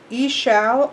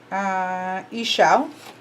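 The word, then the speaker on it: Ixchel: Ishal or Ishal is how this is saying to pronounce it. Let's see what this one says and see if we have a conflict of pronunciations. Ishal.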